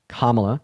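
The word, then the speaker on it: Kamala: annoying first of all her name is pronounced kamla Harris kamla pronounce her name right and then second of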